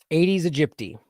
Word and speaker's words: Aedes aegypti: Let's see how to pronounce it. Aedes aegypti.